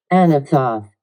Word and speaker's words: Anathoth: Let me make sure I'm pronouncing it correctly. Anathoth.